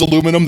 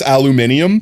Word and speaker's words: aluminium: I understand when Montana says spells aluminum that it's aluminium, but that's only because they're British and I understand that.